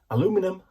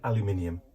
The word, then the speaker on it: aluminium: different which is why Americans say aluminum and we say aluminium because we've got extra letters in ours right okay so let's